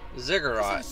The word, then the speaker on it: ziggurat: It's a ziggurat. Yeah, ziggurat. That's how it's pronounced.